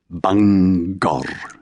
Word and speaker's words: Bangor: place name like Bangor, separating the syllables, but somehow leaving the G on both sides of the chasm, rolling the final R. Bangor. Welsh speakers didn't positively give it two stressed syllables. They just couldn't bear to cheat either part of the emphasis that was its birthright.